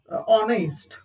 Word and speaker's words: honest: And another example, that is honest. Even it is begin with the h, but it's still pronounced as o.